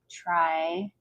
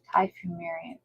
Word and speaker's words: Typhimurium: Okay, so let's look up Salmonella trifamurium. Typhimurium. I'm not even saying it right.